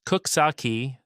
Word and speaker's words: Coxsackie: Number nine, Coxsackie, Greene County. Pronounced Cook-sock-key, this riverside town sits along the western bank of the Hudson, and it's got a personality that's hard to fake.